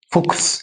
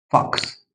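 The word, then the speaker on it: fox: بص هنا بص هنا مش هقول فوكس هقول عكس بص بص فاكس فاكس فاكس هنا مش هقول بوكس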